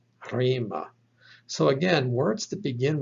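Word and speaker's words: ῥῆμα: Take a look at this word, rho, eta, mi, alpha, pronounced rima, rima.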